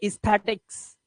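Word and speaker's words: aesthetics: edges इसी तरह से इसे पढ़ेंगे एस्थेटिक्स एस्थेटिक्स यह है पीडिएट्रिशियन ए इ है ना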